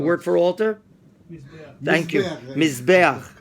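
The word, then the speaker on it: מזבח: Mizbeach. Pronounce it? Mizbeach.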